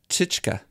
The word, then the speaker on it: Tyczka: I think I lost the pronunciation of your last name. Tyczka.